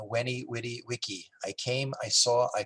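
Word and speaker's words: veni vidi vici: 70 years ago uh it's mispronounced as vennie vidi vicky but it said in latin when he witty wiki i came i saw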